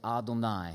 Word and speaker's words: Adonai: up and it says now the word of Adonai and in Hebrew we we don't like to say you're yahweh we don't pronounce his name so we say ah don't I so every time you see Aden I just